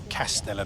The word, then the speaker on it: Kastella: Castella Beach. K A S T E L A. Sounds like a beer, doesn't it?